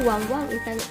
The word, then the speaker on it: Want: I want to share my experience sa napakasarap at napakalinamnam na Taiwan snack nito. Sabi nila, want ang tawag dito, pero pinopronounce daw na wang in Taiwan language.